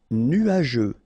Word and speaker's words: nuageux: nuageux. Final X not pronounce je nuageux correct dangereux ok dangereux dangereux